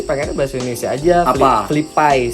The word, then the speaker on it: FlyPay: Flipai sebenarnya. Flipai. Karena Kalau Flipai berarti FLI dong. FLY tapi dibacanya Fli kan. Kalau di kita Fli dong, bukan Fli kan.